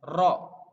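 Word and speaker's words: ر: Jadi kesulitan untuk mengucapkan lafaz ro. Jadi sebisa mungkin harus jelas. Ro dan harus bisa untuk yang cadel. Ro, ro. Jadi lidahnya ada di langit-langit, diucapkan sejelas mungkin.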